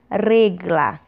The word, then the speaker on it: regla: Régua em espanhol nós chamamos regla. Regla. Tesoura em espanhol nós chamamos tijeira. Tijeira. Lembrem-se sempre, o E sempre com som fechado.